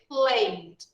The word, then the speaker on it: played: Play ends in a vowel sound. So we add normally ed, but the pronunciation, we just pronounce the D. All right? So we say played. Played. Played. Not played. No, because we never pronounce this vowel.